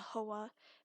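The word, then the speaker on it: Huathe: the source it could call it the hawa and the hawa is spelled h-u-a-t-h-e um so look those up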